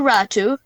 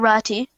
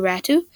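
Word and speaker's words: Räty: The New York Islanders received centerman Bo Horvat in exchange for left winger Anthony Beauvillier, prospect Atu Ratu, is pronounced Ratu, not Rati, and a conditional 2023 first-round pick.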